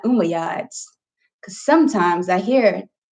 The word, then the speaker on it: Umayyad: Let's make sure it's Umayyads and it's not Umayyads. Because sometimes I hear like multiple pronunciations in my head.